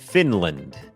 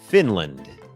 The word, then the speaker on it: Finland: คอร์ส ฝึก ออก เสียง ฟินแลนด์ อ่าน ว่า finland finland โอเค อัน นี้ บ่ง บอก ว่า จำ ได้ ม อัน นี้ ก็ เน้น พยางค ขึ้น สูง Fin Fin Fin พยางค ไม่ เน้น L finland finland เหมือน กัน ครับ